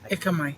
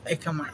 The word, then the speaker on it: Ekamai: Me and you like Akamai. How do you pronounce that? Ekamai. Ekamai.